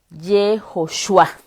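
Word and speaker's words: יהושע: Ahora, en arameo se pronuncia Yeshua, en arameo, Yeshua. y en hebreo Yehoshua.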